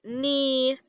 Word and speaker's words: knee: So all of the words this week that sound like they start with an N, like knee, knock, knew, no, knuckle, all of those have a silent K at the front.